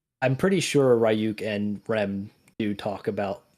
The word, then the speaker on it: Rem: Does I say it right, Rem?